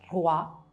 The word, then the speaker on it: roi: Ne aggiungiamo un altro, O più I si leggerà WA, come nella parola roi, che si scrive in questa maniera e che significa re.